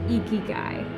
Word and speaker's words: ikigai: to say it correctly you have to lift your cheeks to say it with a smile eeky guy is how they describe